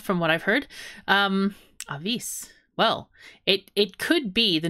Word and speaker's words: Avis: We do pronounce it Avis as well.